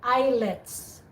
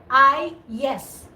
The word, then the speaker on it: IELTS: of the indian people they have a problem of pronouncing ielts they say eyelets eyelets i said they say this i yes say i yes and